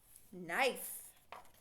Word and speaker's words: knife: n saying n n the K does not talk the N talks the K is silent n n everybody say